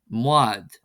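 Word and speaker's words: mbád: Therefore, we have for the letter B example, this becomes MB and is pronounced as an M sound. For example, the word bad meaning boat would become mad.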